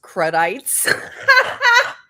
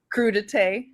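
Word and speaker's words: crudité: Is anyone going to tell her that it's not pronounced kredites? What is What was she trying to say? Crudite.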